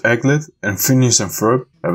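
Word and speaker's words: aglet: So I think it's pronounced Eglet, and Phineas and Ferb have a song of it.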